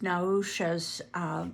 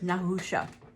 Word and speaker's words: Nahusha: who we met in the previous chapter is naousha's nephew i'm going to check on the pronunciation of that and that one is in the beginning of the book okay we're good nahusha so uh at the end of the chapter